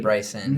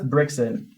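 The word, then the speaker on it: Brycson: That's Brixon. I don't care how your mom pronounced it. It's wrong. It's Brixon. Brixon, if you're out there and it's actually Bryson, This is for you.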